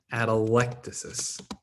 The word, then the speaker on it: atelectasis: is called atelectasis right atelectasis the stress is on the the third syllable at alticus okay so